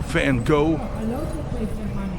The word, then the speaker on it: Van Gogh: Here you will find famous paintings by Rembrandt, Van Gogh, or Van Gogh, as you Americans say.